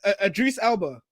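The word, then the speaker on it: Idris Elba: Adris Elba. That's how you say his name.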